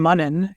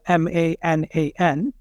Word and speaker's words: Manan: Because my name, Manan, is not the easiest name for many Americans, especially when you look at how it's spelled, Manan. Yeah. It's not obvious that the sound is in the A.